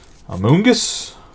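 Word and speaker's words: Amoonguss: and amongus Among Us a Mungus that's how you actually say his name but that's going to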